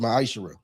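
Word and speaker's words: מעשר: Means 10th in Hebrew and is pronounced ma'ashera. 10% of every penny of any increase the Lord gives you, give it to the treasury department or teacher.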